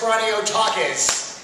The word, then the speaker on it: Kraniotakes: Welcome Andreas Kraniotakes. The big question is, have we been pronouncing your name right this entire time or not?